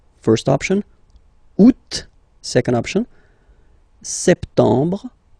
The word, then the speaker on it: septembre: So septembre, septembre. Remember this em en septembre. You don't insist on the final septembre, septembre.